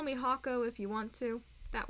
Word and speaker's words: H44K00: By the way, if you guys don't already know, so my YouTube name is Hako. Rather, it is H44K00, which is supposed to be pronounced Hako.